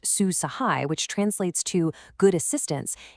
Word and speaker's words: Su Sahay: Susahai, pronounced Sue Sahai, which translates to good assistance, is a brand new artificial intelligencepowered assistance chatbot.